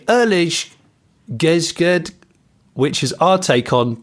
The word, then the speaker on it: eerlijk gezegd: because it's in Dutch, it says, we say, eerlijk gezegd, which is our take on to be fair. And it's spelt, just for the purposes of people listening, ERLIJK space GEZEGD.